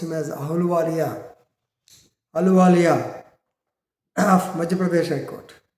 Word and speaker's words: Ahluwalia: Normally pronounced him as Ahluwalia of Madhya Pradesh High Court in XXX versus State of Madhya Pradesh and others.